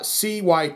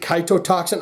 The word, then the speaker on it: Cytotoxin: have no idea how the way you say it cytotoxin uh c-y-t-o-t-o-x-i-n cytotoxin i is or is it kaito toxin i say i think it's cyto cyto cytotoxin i have no idea what we're in for